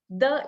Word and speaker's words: the: The, if you see there are 3 letters, yeah, t, h, e. You cannot say t. It's not te, it's the, right?